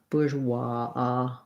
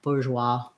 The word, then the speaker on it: bourgeois: bourgeois this really wa it's kind of in between and ah and an aw i would say somewhere on that spectrum because the w makes it kind of rounded but then we do end up with sort of more of an open ah bourgeois bourgeoisie um i heard